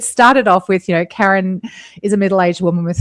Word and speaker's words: Karen: For our listeners, my name is pronounced Karen, but I often get called Karen.